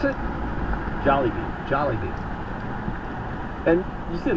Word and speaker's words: Jollibee: How do you pronounce it? Jollibee.